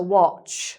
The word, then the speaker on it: watch: So it's not a watch; it's a watch, so it's short "o" sound, "aw", as in "orange".